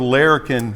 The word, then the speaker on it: Larrikin: And could you tell folks what the word Larrikin means and how that became the name of your distillery?